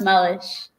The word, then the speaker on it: Meluish: Sorry, it's pronounced Mellish.